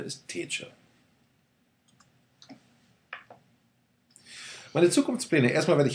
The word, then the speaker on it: Tetje: Ja, und die richtige Aussprache ist Tetje. Also oftmals werde ich gefragt, wie wird es dann richtig ausgesprochen? Tetje, Tetje, Tetje. Aber die einzig richtige Aussprache ist Tetje.